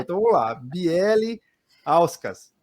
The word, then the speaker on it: Bieliauskas: Mas é tão simples que você fala assim, não, pronuncia exatamente do mesmo jeito que escreve. Então vamos lá, Belauskas.